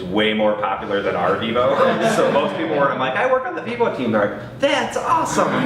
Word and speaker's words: Vivo: So that product is Vivo. It's pronounced Vivo. Everyone always is like, is it Vivio? And then it's not this Vivo.